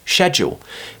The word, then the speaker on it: schedule: RP English way of pronouncing it would definitely be schedule this is how you'll hear on the BBC News let's just practice that